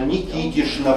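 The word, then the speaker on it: Никитична: Ильинишно, Никитишно, Фаминишна, Савишно. обязательно с шан произносятся, пишутся с чн, произносится с шн.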